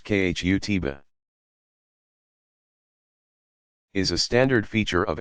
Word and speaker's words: khutbah: An address called the khutbah, pronounced khutbah, is a standard feature of every Friday congregational prayer service.